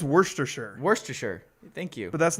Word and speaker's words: Worcestershire: of it like how nobody really knows the right way to pronounce worcestershire sauce you just kind of say worcestershire but if you read the label on the worcestershire sauce it looks like worchestershire and nobody says it that way and i have no